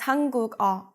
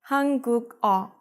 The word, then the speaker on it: 한국어: But because the last syllable starts with an iung, and the syllable before that has a 받침, the 받침 기역 would replace the iung. Now 2 things happen. First, the last syllable now starts with a consonant sound instead of a vowel sound, from a to ga. The sound that this 기역 makes changes from a K to a G sound because it's moving from